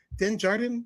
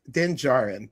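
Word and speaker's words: Djarin: Pedro Pedro Pascal, who is the person who plays Mando or Den Denjardan. Is that how you say it? Den Jar Jarin. Den Denjarin.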